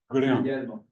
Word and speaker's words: Guglielmo: But this guy named Guglielmo Marconi, do I pronounce that right? Guglielmo? Yeah. Guglielmo.